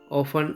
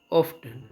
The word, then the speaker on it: often: them are always often two ways of pronunciation often or often never sometimes seldom deep